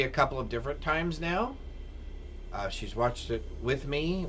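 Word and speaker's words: Nao: Oh, it's pronounced now. Oh, N-A-O, now.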